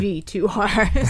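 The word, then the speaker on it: VIIR: I looked it up and they actually told you like, and this is how it's pronounced, Good. V2R.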